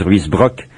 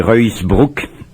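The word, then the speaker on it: Ruusbroec: décembre, Jan van Ruysbroek, ou on peut prononcer son nom à la française, Ruysbroek. Paraît-il qu'en flamand c'est Ruysbroek.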